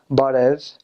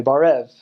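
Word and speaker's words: բարև: So for example, to say hello, you say barev, and a lot of American missionaries will say barev with barev, barev. But no, don't do that.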